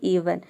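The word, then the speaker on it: even: जैसे कि इवन यानी कि वर्ड के शुरू में अगर ई आ जाता है, अधिकांश वर्ड के शुरू में, तो हम क्या प्रोनाउंस करते हैं, ई को ई प्रोनाउंस करते हैं।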